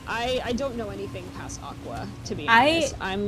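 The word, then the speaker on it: Aqours: It's pronounced Aqua. Is it really? It's pronounced Aqua, but I don't know how there was a reach, but it's okay. They can do that.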